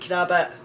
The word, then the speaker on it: crabbit: Crabbit, now that's one that we use, pronounced crabbit, meaning grumpy.